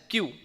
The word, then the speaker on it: queue: can see there is a word q u e u e it is pronounced as q and it seems like